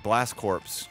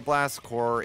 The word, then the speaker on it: Blast Corps: I told my mom I wanted blast corpse cuz I didn't know how to say it and she thought it was a you know a violent corpse killing game but it wasn't it's not a blast core is you know that's